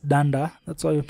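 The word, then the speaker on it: dunder: The two double underscores are pronounced as danda, that's why I'm saying doc.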